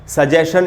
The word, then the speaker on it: suggestion: कितना भी पढ़ा लिखा आदमी हो, सजेशन, सजेशन, सजेशन यानी सुझाव, सजेशन इसका बिल्कुल ही गलत उच्चारण होगा।